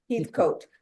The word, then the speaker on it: Heathcote: We are in, is it pronounced Heathcote or Heathcote? Heathcote.